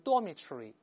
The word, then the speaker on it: dormitory: 但在英式英语读成 dormitory 前面不读成 dorm 而是